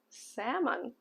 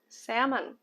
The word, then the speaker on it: salmon: it's a type of fish okay uh it's salmon salmon salmon yes salmon we have got the smoked salmon